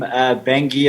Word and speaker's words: Bangui: most south africans i i couldn't pronounce the name bengi it's pronounced bengi uh i'd pronounce the